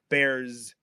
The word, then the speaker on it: bears: speakers of English will so even though we spell it with an S they'll pronounce that S at the end of bears as a z sound bears yeah do you like